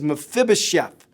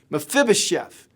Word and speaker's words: Mephibosheth: His name is Mephibosheth. Mephibosheth.